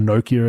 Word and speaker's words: Nokia: playoffs and it was a Nokia or Nokia as the Americans say 3310 phone case with